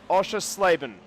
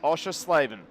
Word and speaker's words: Oschersleben: he could not pronounce the name it is pronounced osha slaven chris osha slaven send it out osha slaven okay i'm saying that because i know he's